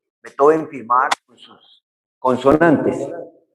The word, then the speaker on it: Beethoven: Con la pronunciación suave de la orilla del Rin. A él le gustaba que lo denominaran como Beethoven, no como el acento fuerte Beethoven de Viena.